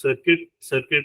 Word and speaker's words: CIRCT: Even in LLVM, LLVM has CIRCT, I think it's pronounced circuit IR.